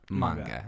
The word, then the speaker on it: manga: Like if we want to be for real, it's manga. Yeah. Okay. Yeah. That's so typically a lot of these anime stem from manga, which manga is just a Japanese version of a comic book.